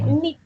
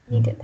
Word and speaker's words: knitted: K isn't pronounced, only knitted. Knitted.